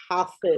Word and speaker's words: Hafiz: name is pronounced as Hafiz. Hafiz.